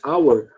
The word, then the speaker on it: our: Our, quando você pronuncia separadamente, se pronuncia our mesmo, igual a palavra hora. Só que no contexto de uma frase, você fala só our.